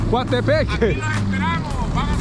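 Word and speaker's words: Coatepeque: Coatepec.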